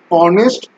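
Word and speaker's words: honest: যদিও এইচ উচ্চারণটা হচ্ছে অনেস্ট, এইচ এর উচ্চারণটা হচ্ছে অনেস্ট, ও এর মতো উচ্চারণ, তাই এখানে অ্যান।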